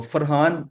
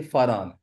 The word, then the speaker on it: Faran: तो फरहान नहीं है, ये फारान, FARAN, एच के बगैर।